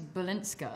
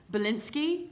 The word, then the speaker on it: Balinska: of the amount of people that will go like. Balinski, and I'm like, dude, is there an A?